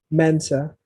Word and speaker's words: Mensah: How you pronounce that last name? Mensah.